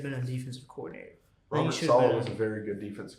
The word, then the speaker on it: Saleh: How do you pronounce it? Saleh.